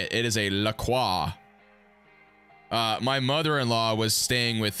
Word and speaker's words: La Croix: It is a La Croix.